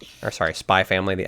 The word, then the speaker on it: Spy x Family: Spy X family sort of thing. Mhm. Mhm. Or sorry, spy family. The X is not The X is silent.